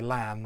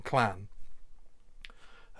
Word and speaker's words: Llan: Generally, Welsh speakers will have a much better idea of understanding what you're saying if you say Llan rather than clan.